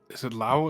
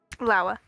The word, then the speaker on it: Lawa: Is it Lao? Is that how you say it again? Lawa. Lawa. Okay, Lawa. I keep wanting to say Lao.